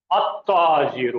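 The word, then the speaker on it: التاجر: ता करके देखिए ता, तो अरबी में ये अल का लाम जो है ये गिर जाएगा, प्रोनाउंसिएशन में नहीं आएगा, और यहां पे इसको डबल किया जाएगा, अत्ताजीरो हो जाएगा।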